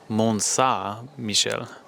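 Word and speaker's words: Mont-Saint-Michel: sadly we were just informed that we've been mispronouncing the Abby the entire time so it's Mona Michelle instead of say Mona Michelle so there's something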